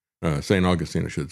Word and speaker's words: St. Augustine: He was visiting St. Augustine, uh, St. Augustine, I should say. That's what it's pronounced in Florida.